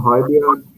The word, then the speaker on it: Højbjerg: I think Højbjerg, that's how you say his name.